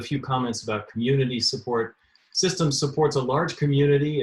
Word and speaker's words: CSDMS: modeling system or csdms which is sometimes pronounced systems with a soft c first a little bit